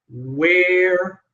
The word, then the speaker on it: where: So one is where don't where like hair like hair where. And the other one, the verb to be were.